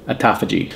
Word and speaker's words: autophagy: Autophagy.